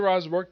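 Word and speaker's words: Rosenberg: Yes, written by Matthew Rosberg.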